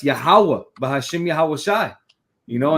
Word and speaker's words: Yahweh: Is it Yahuwah? Is it Yeshua? You know, no, it's Yahweh, Bahashim Yahweh Shai.